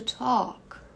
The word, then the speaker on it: talk: to talk talked talked agora veja que esse L aqui é mudo praticamente porque a pronúncia dessa combinação aqui do a e do L dentro da mesma sílaba vira um o então é Talk Talk não tem esse L é um mesma